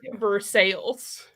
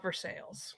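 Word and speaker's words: Versailles: a town here guys it's not pronounced correctly no surprise yeah just like ver ver sales right love ver sales yeah Kentucky is weird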